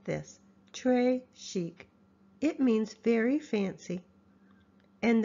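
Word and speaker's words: très chic: bracelet Trish chic you say it like this Trey Chic it means very fancy and the gravy is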